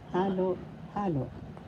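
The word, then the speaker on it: halo-halo: Another example is halo halo that means combinations mixtures. First syllable ha second syllable halo first syllable has the accent so you pronounce the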